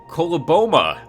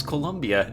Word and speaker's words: Coloboma: have pointed out that I have been mispronouncing Columbia's name forever. It is Coloboma, which I will now never forget. I actually thought it was Columbia. I thought there was a U in there.